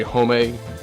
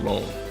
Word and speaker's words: Homme: Of course, if a lot of you don't know, when you see, some people say Homme, Homme, it's actually pronounced Loam. Pretend there's an L in there.